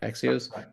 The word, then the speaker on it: Axios: Axios.